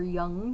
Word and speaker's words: Jung: starting on good old Carl Jung or young whichever you want to pronounce it um you know um